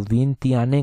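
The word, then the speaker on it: Vientiane: विथयान में आती है। इसको प्रोनाउंस किस तरह से करते हैं? एग्जैक्टली प्रोनाउंस इसको जो है वो विंत्याने कर जो है उसको प्रोनाउंस करते हैं।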